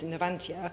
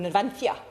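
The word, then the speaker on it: Navantia: And when I was sat in the Ministry of Defense with Nvantia or Nvantthia as as perhaps the better way of pronouncing them, um you know, we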